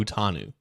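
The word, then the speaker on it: Fautanu: the guy from Washington his name is pronounced fanu f tanu f tanu yeah okay well we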